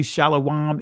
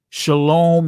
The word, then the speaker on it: shalom: hey what is shalawab actually shalawam is the ancient pronunciation shalom is not the ancient pronunciation why because there was no o sound prior to the ninth century in the hebrew language but anyway okay so